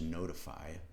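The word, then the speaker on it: ntfy: And then it's using this, this service, push notification service, pronounced notify, NFTY.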